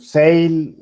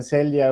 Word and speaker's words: Selye: comparándola con la de Selye, es que no sé si es Selye, Ya ya por la que pronunciación, Sail, algunos dicen Celia, a otros les dicen como Sail, también la encuentras.